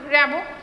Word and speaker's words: Rimbaud: তোমাকে যেটা জিজ্ঞেস করতে পারে ফরাসি কবি কে, তিনি কি বলেছিলেন, ঠিক আছে, তুমি নাম বলবে জাঁ আর্তুর র্যাবো। দরকার হলে তুমি ইংরেজিতে লিখেও দিতে পারো।